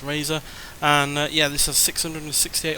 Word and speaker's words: RZR: R said R but it is apparently pronounced Razer and yeah this is